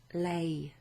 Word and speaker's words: lei: Voglio telefonare a lei. Or I could say voglio telefonar le. Okay? So le, L-E, is pronounced differently to lei, which is spelled like this.